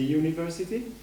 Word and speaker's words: university: i think it's the university right correct because actually you it seems visually a vowel but it's pronounced as a consonant it's you good so